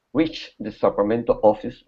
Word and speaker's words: Sacramento: Deb's letter reached the Sacramento office right on time. Okay, very good. All right, let's go to here. Sacramento. Sacramento. So instead of Sacramento, put the stress at the end. Sacramento.